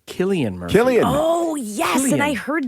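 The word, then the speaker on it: Cillian Murphy: you this is the Oppenheimer star is it syan Murphy that's what I always said I thought it was San Murphy it is not is it I had to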